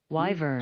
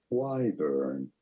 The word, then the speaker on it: wyvern: We are looking at how to pronounce the name of this legendary winged dragon. Wyvern.